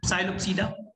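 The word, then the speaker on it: Psilopsida: मिला आपको पीपीएलएस, पढ़ो तो, पीपीएलएस, पी साइलोप्सीडा, पी साइलेंट है, साइलोप्सीडा।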